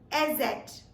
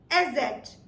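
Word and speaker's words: Eszett: The 4th character that we have with us is called SZ. SZ.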